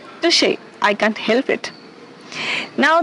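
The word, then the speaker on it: touché: So let me tell you first the pronunciation of this word. We say touche. Say with me, touche.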